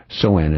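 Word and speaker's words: Samhain: Soen, said phonetically, which is Sam Hain.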